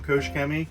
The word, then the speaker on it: Koch-Chemie: You'll hear lots of different pronunciations of the name. I'm pretty well set on Koch Chemie.